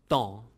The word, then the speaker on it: Tan: In French, this is pronounced as Don.